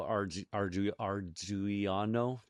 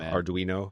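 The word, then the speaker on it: Ardoino: So, Tether CEO, my good friend Paulo Ar arano, you should butcher that. You should learn how to pronounce the name of your of your good friend there, Paulo Arduino.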